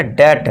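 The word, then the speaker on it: debt: और एम के बाद अब यहां देखिए टी से पहले क्या है? बी है। तो यहां पे अब क्या होगा? जो बी है ये साइलेंट हो जाएगा। तो अब इसे हम क्या पढ़ेंगे? दैट।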